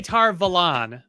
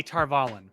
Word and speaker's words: Tar Valon: uh tar uh tar how do they pronounce it tar valley they say tar valon basically in the audio books they say tarvalen uh and so we